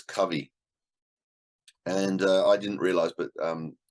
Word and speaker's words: Covey: I found out that it's not pronounced Covey, it's pronounced Covey, because the audio edition I was listening to had a foreword by his son, and that's how he pronounced his name.